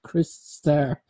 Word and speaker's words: Crystar: Smithlord demands that you pronounce it Chris Star. Chris Star. Yeah, like when I did my review of that figure, someone came at me in the comments and like, you pronounced it wrong. I was like, I would have said Crystar.